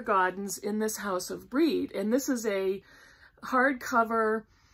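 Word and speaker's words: Brede: Now, if you've watched my previous videos, I kept calling that book In This House of Bread, and that's not how you pronounce it. It's called In This House of Breed, and it's the story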